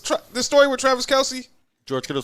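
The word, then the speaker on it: Kelce: the story with travis kelsey he was on a podcast you know we've been saying his last name wrong forever right what what is his last name it's travis kels first and foremost his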